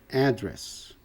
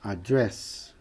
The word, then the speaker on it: address: Tome cuidado com esta palavra. Substantivo é address, endereço. Se dirigir a um público é address. Address, address.